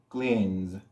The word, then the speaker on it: cleans: N con sonido de S. Aunque traten de pronunciar una S, tendrán que poner mucha atención, pero se va a producir ese sonido de Z.